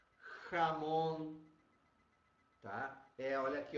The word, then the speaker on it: jamón: Não confundir com Ramon, tá, pessoal? Por isso, os dois sons são bem diferentes e têm que ser pronunciados bem diferentes, porque um é presunto e o outro é nome próprio. Então, por isso a necessidade da correta pronúncia do J, tá?